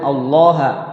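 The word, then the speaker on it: ٱللَّٰه: indah diajibu guna kemudian allaha Allah lafaz Allah dibaca tafim tafhim tafhim artinya te tebal tebal tebal lawan kata dari kapan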